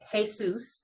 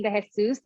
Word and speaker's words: DeJesus: we have miss destiny jesus i'm sorry if i'm mispronouncing your name vegan food activists from the